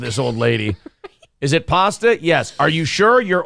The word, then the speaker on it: pasta: or is it pasta It's pasta are you sure now I'm positive it's pasta I'm positive that's where your a is pronounced okay ah so it